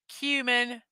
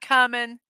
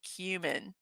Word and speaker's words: cumin: heading home now and the word is cumin not common like some people might want to pronounce it it is cumin and then this one